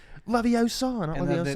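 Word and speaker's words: Leviosa: when he's like can you believe her it's pronounced laviosa they're literally walking next to her yeah and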